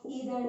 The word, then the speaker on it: either: आइदर, नाइदर क्या होता है, आप इसको ऐसे भी प्रोनाउंस कर सकते हो, ईदर नीदर.